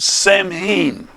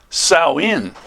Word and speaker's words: Samhain: Well, anyway, Halloween's origins date back to the ancient Celt festival of Samhain, or that's how it looks, but it's pronounced Samhain.